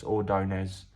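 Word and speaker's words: Ordóñez: Um, sorry, I think my pronunciation was wrong. It's Ordonz.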